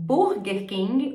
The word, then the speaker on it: Burger King: da região Burger King Então a gente tem que trabalhar essa pronúncia do R não é não é Burger né é Burger Burger King Burger King McDonald's também tem uma